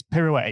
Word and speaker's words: pirouette: It's pirouette. It's got 3 syllables.